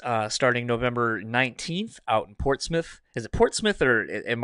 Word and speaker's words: Portsmouth: And fans can see you guys starting November 19th out in Portsmouth. Is it Portsmouth or am I putting the American accent on that? It's Portsmouth.